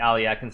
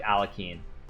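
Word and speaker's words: Alekhine: It's pronounced like Aliekin or something if you speak Russian. I don't speak Russian. I only speak American, so I just say like Alekin. It's like Aliochin or something.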